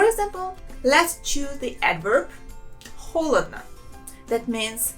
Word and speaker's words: холодно: Notice how we pronounce this word. There are 3 letters O, and only the first one I pronounce as a real O sound. The other 2 letters I pronounce them as A.